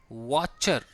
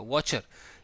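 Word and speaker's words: watcher: द black Smith यानी कि लोहार, कॉमा वॉचर, वॉचर ही होगा, टी साइलेंट ही होगा, वॉचर।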